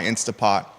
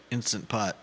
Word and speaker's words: Instant Pot: like I do but Judah is proper pronouncing the whole thing instant pot what what is it instant pot oh it's not insta pot no I just used